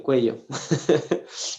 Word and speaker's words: cuello: tenía algo en el cuello y lo malo es que la palabra cuello si tú la pronuncia es mal suena culo entonces yo le dije